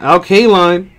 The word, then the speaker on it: Al Kaline: did alcoho LK line I gotta get used to pronouncing that Al Kaline right there sounds good